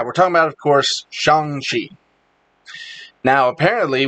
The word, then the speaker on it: Shang-Chi: talking about of course shangshi now apparently we've all been saying that name wrong for years because i thought it was shang chi saying it's not it's shang shi chang chi yeah okay